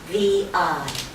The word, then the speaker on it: Levi: Levi. Levi. You know, like the jeans.